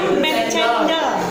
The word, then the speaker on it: Chandler: Cuma itu namanya Matt Chandler loh, bukan Chandler. Cendel. Cara bacanya Matt Chandler. Matt Chandler. Matt Chandler. Begitulah, bukan pakai K ya.